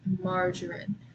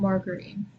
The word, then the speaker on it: margarine: This one's kind of tricky because of the way that it's spelled. So it just be margarine, not margarine. Margarine.